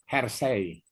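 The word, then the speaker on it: Hersey: Hersi. Ujungnya yang satu lagi penulis yang kedua adalah blanchart.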